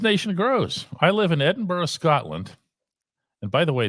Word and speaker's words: Edinburgh: grows I live in Edinburgh Scotland and by the way did you notice the the soft little dead o that I put at the end of Edinburgh I heard that bur